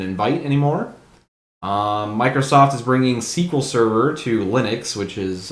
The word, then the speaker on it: SQL: Microsoft is bringing SQL Server to Linux, which is a holy shit moment for a lot of network guys. That's how that's pronounced? I always call it SQL.